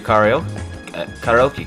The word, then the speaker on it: karaoke: And there appears to be a karaoke club. Man, I am bad at pronouncing that.